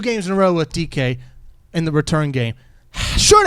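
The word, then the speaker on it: Dike: Dyke, as I like to call him. That's how it's spelled, but it's pronounced DK. So, it's Yeah, two games in a row with DK in the return game.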